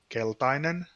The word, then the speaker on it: keltainen: Okay, so can you tell me how to pronounce these, sir? Okay, the red one is punainen, Okay. the yellow is keltainen, Okay.